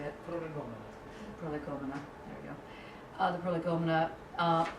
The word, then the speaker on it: Prolegomena: Prolegomena, there we go.